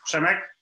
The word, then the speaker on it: Przemek: pronounce it you can try to me to pronounce the shorter version which is chemic and then the easiest one is so